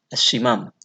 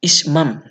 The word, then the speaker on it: ismam: Asyimam. Seperti itu. Bukan asyimam, ya, ismam. Nah, ismam, saya ulang, ismam.